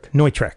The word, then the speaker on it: Neutrik: How's it pronounced? Neutrik.